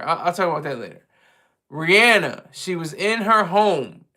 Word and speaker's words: Rihanna: Rihanna, that's how you pronounce her name.